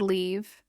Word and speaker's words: leave: Another common pair, live and leave. In live, the I is short. In leave, it is long.